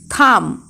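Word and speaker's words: thumb: এম এবং বি কোনো শব্দে পর পর থাকলে এবং বি এর পরে যদি কোনো ভায়োল না থাকে তাহলে বি এর উচ্চারণ হয় না, কিন্তু কনসোনান্ট থাকলে বি এর উচ্চারণ হয়।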